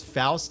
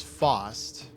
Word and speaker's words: Faust: stupid and uh then they would mispronounce Faust as fast and then one of them would pick Zappa this exact thing happened with like 40.